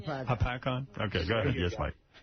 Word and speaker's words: Hopatcong: All right, Mike, go ahead in Lake Hopatcong, New Jersey. Is that how you say it? Like a pack-on. Hopatcong?